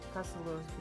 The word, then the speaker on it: Cassel Earth: you can see how suddenly with warm white Cassel Earth becoming very reddish.